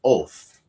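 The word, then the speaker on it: אות: Right, that word for sign in the Hebrew language, our small friends will pronounce it oath.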